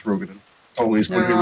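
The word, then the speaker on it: Roegadyn: It's Rogaden. Always going They're to be wrong. Rogaden.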